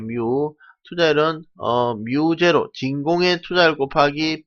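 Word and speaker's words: μ: 이때 진공의 유전율 값은 8.85 곱하기 10만 12성으로 계산기 잘 찾아보시면 상수값 찾을 수가 있을 것이고, 마찬가지로 이 투자율 역시 투자율을 뮤라고 읽어요. 뮤.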